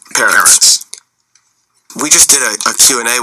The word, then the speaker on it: Peretz: This is a running debate that I actually have with Marty Peretz, although I'm now told it's pronounced Peretz.